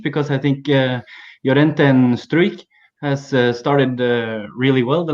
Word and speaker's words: Struijk: Struijk.